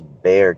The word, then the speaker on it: Bexar: I think that's Bexar County, but they spell it Bexar.